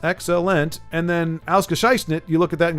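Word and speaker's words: ausgezeichnet: Ausgescheißnet. Right? Is that right? Ausgescheißnet? Ausgescheißnet. Now let's see. Excellent. So that's 3 syllables in English. Ausgescheißnet. Only 4 in.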